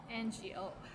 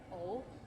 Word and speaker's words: 我: 想我 ngo 我. Sometimes we get lazy and we just say 我 like o sound instead of ngo 我 or o.